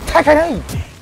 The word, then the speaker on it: Tekken: amazing not to mention the legendary teken or tan8 that's how you should pronounce it because Tekken a is actually the Americanization of the word Tekken in t I love